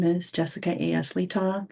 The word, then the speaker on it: Letaw: Letaw. Last name rhymes with seesaw.